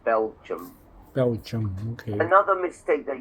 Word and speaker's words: Belgium: It's only 2 syllables, not Belgium. It looks like Belgium, but it's just Belgium.